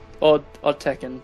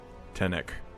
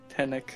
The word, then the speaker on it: Tenek: Tenek. Tenek. N first.